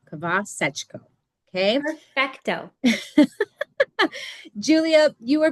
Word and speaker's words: Khvasechko: So it's Julia Khvasechko. Khvasechko.